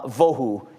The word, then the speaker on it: vavohu: person that you say they might have a va but it's all the vohu is the way it's pronounced and there's different ways